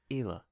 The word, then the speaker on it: Hila: Actually spelt with an H at the beginning, but the H is silent. Yes, sir. Very silent. So it's Hila.